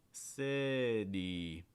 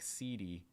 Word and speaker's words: city: i second reason is you have that fast d sound on the t succeed and then you're finishing with the long i d city what students want to do is they want to pronounce it like cd or something like that we have two long